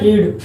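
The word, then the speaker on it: read: तो जो पढ़ना होता है रीड, तो रीड के जैसे फॉर्म तो रीड अपने रेड बोलेंगे, रेड बोलते हैं, लेकिन स्पेलिंग एक ही होती है।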